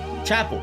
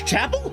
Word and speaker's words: Chappell: How the do you pronounce her name? Chapel. It's Chapel.